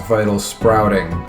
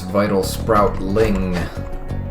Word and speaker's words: vital sproutling: I've been mispronouncing it as vital sprouting. But there's clearly an L there. It's vital sproutling. Not vital sprouting.